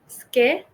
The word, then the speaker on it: schedule: or okay all right I'll tell you skule SKU schule yes H uh do you